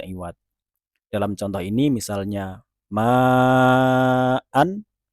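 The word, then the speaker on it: معا: harus membacanya dengan prinsip mad iwad. Dalam contoh ini misalnya ma'an, ketika kita wakofan di sana dia bukan menjadi ma, melainkan ma'a. Hamzah dibaca 2 harokat.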